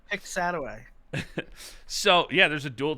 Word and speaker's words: Piscataway: Yeah, I think it's pronounced Piscataway.